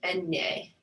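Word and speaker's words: eñe: And when that is above the N, it's pronounced enye.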